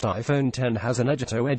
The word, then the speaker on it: iPhone X: iPhone design were remarkable the iPhone X pronounced iPhone 10 has an edge at